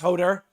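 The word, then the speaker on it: Höðr: an avenger here's hodor hodur pronounced hodar sometimes called had is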